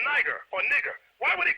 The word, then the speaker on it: Niger: The word Niger there was originally pronounced nigger, which means black.